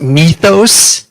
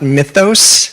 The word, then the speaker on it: mythos: So, I think the most interesting thing that I learned yesterday was that it's pronounced mythos, not mythos. I thought that was pretty fun.